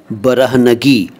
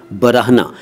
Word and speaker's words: बरहना: आज जो शब्द मैं ले रहा हूँ वो हैं बरहना, बरहनगी, उरियां, उरियानियत और उरियानी। सबसे पहले बरहना, इसको कई लोग बरहना कह देते हैं जो कि ठीक नहीं है, सही उच्चारण है बरहना।